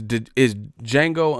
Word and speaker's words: Django: It's Django Unchained. The D is silent.